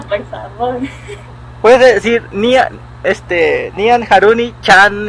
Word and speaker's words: Haruny: ¿Lo dije bien o cómo se pronuncia? Sí, así, Haruni.